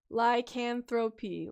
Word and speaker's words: lycanthropy: it many different ways lycanthropy like anthropy there we go thank you hats like